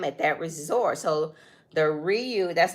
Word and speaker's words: Riu: laid-back good time at that Resort so the Ryu that's how you say it yeah Ryu the